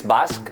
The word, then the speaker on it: Basque: In English, it's Basque. In our language, it's Euskadi.